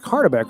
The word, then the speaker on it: Hardbeck: still probably messing up he's like it's like hardbeck right talked to one of his buddies from college he's like yeah it's hardbeck Gotta Have That e